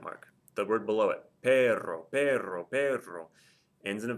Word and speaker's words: perro: Since it ends in a vowel, the stress is on the first to last syllable. No accent mark. The word below it, perro, perro, perro, ends in a vowel.